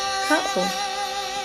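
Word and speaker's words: kaʻo: This step now, it's called ka'o. And ka'o is the foundation for all those hula steps. So we want to get this one in. It is spelled K-A, Okina, or apostrophe O, Ka'o.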